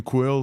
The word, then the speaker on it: QwQ: it in the blog it is just like the word quill yeah yeah because for for the qw you can like qu and for the Q and you're just like the U so I just combine it together and create a new pronunciation called quill yeah so we're saying